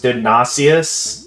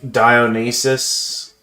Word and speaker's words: Dionysus: Right, I think there was a similar situation with I thought his name at first was Dionysius, the god of wine. But I think it's actually pronounced like Dionysus, something like that.